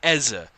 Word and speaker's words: Eze: and a Barry ezer there's a difference it's it's going to be minimal of a difference in the other pronunciation but there is a difference there's an Essa and an ezza I mean fantastic isn't